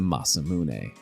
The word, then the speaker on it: Masamune: Other people mention a fabled sword named the Masamune. That's how you pronounce it. But I don't blame you for getting that one wrong in the mid-90s.